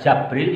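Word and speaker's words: جبريل: bisa dibaca fathah ya Jibril ini kalau kalian membaca jabril juga boleh dibaca Jibril boleh wa fathaha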